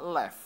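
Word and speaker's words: לב: Nah, menariknya Bapak Ibu, dalam bahasa Ibrani, hati itu terbanyak digunakan kata lev. Ya, digunakan kata lev.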